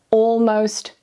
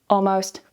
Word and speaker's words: almost: So, saying already, almost, and always. However, in fast, natural, casual everyday conversations, it's completely fine to relax a little and remove the L and say already, almost, always.